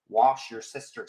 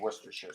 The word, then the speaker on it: Worcestershire: iron dude in fact he regularly calls it wash your sister sauce um yeah but I prefer the actual pronouncement of Worcestershire sauce meanwhile on the other